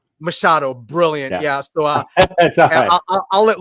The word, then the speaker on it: Machado: Because I love the pronunciation. Yeah, it's Machado. Machado, brilliant.